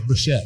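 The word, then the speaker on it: Bouschet: Well, it's kind of like saying Alicante Boucher. It's Alicante Boucher. Well, actually, I got corrected by Bob the other day. It's not even, it's Bouchette.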